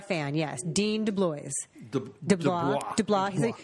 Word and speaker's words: DeBlois: DeBlois. He says it right. It's not like in Louisiana, your last name could be like DeBlieux, and everyone pronounces it W. Bobby W. He's Canadian. He pronounces it correct.